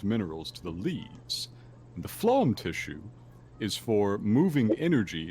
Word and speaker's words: phloem: water and dissolved minerals to the leaves the phloem tissue is for moving energy in the form